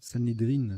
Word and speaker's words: Sanhédrin: Sanhédrine, ça se prononce.